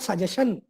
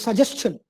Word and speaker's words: suggestion: It's not suggestion. It is suggestion, digestion. There are a lot of those chin words that we are not familiar with. We say suggestion, digestion. It's suggestion.